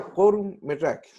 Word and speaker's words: court-métrage: Para tener como más identificado el tema del significado, que se pronuncia court-métrage, ¿ya?